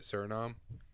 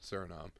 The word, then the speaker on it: Suriname: Suriname. Yeah, Suriname.